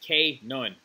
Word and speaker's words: Canaan: the country of Israel known as Canaan pronounced Kaye knowing right now after passing